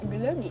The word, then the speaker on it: glöggi: Yeah, how to pronounce this? Glöggi. Glöggi. Yes, perfect.